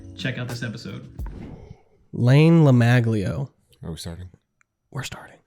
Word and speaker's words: LaMaglio: It's Layne LaMaglio.